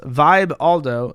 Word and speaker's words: Vibaldo: sex product the vibaldo the vibaldo pronounced Vibe Aldo doesn't just include your